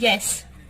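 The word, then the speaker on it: ja: तो yes means या जा नहीं, इट्स नॉट जे, it's pronounce as वाई, या, ओनली इन दिस।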